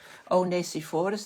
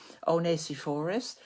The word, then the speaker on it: Onesiphorus: And and there's another person, Onesiphorus, that's how we would pronounce it in Dutch, I don't know in English, Onesiphorus.